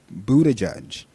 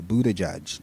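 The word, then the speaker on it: Buttigieg: for a second seriously y'all Buddha judge that is not hard all those people that cannot say his name including the political pundits on TV seriously get it together it's a Buddha judge not difficult former Vice President Joe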